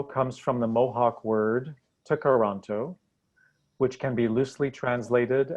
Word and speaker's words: Tkaronto: Toronto comes from the Mohawk word Tkaronto, which can be loosely translated as where the trees meet the water.